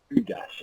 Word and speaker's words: Udas: So we're going to have an answer from Antin, then Willito, then Mickelson, then Cooney, then Nudas, and then Udas. Am I pronouncing that correctly? Yeah, that's fine.